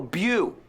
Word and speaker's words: view: In view, pero lo que quiero es que lo pronuncies bien. No quiero view.